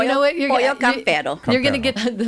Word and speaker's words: Pollo Campero: And when I walk into Campero, Is it Campero? I think we said it wrong. It's perfect. Yeah, it's you know what? Pollo Campero.